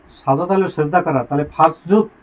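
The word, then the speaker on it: فاسجدوا: আদেশ সূচক ক্রিয়ার পূর্বে অ ফা যুক্ত হলে এরপরে আলিফটি লিখতে আসে, পড়তে আসে না।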